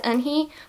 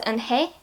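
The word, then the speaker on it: 은혜: written in here as Eun-hee, but they say the name means grace. So in Korean that's Eun-hye, not Eun-hee.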